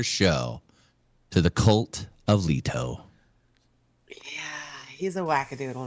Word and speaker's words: Leto: It's Leto, but I like to say Leo.